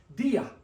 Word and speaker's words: día: But the word day has an accent mark, so it separates the 2 vowels into 2 separate sounds. Dia, dia, dia, day.